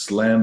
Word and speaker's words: slam: Olha lá, de novo, uma palavra lá com som de SL. Você já sabe pronunciar. Não vai falar som de Z, por favor. The deal does slam the door.